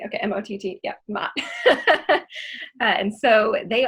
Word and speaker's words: Mott: Am I pronouncing Mott correctly? Okay, M-O-T-T, yeah, Mott.